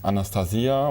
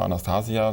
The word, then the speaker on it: Anastasia: Und die Anastasia oder Anastasia, da gibt es verschiedene Aussprachen, sie lebt in der